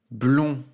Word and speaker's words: blond: conjugué au présent blond dans le blond tu entends on qui s'écrit au n il ne faut pas oublier le début et à la fin du mot pour cela tu peux penser par exemple au féminin blonde dans lequel on entend le d la